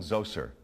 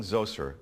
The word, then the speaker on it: Zoser: This pyramid was for King Zoser, that's spelled Z-O-S-E-R, in about 2650 BCE.